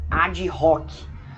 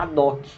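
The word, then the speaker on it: ad hoc: de ouviram essa expressão tem gente que muitas vezes preferem falar a de rock né mas o certo seria a doc porque o h é mudo tá tanto em latim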